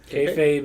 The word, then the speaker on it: kayfabe: Is that actually how it's meant to be pronounced? Kayfabe. Because I've heard, I can't even tell you how many different ways I've that only word heard it pronounced that way. Okay. Kayfabe is correct.